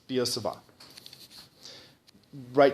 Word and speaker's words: Biot-Savart: You don't at least I mean that's you know you listen to the pronunciation it's you go down at the end instead of up like I think people say but yeah but let's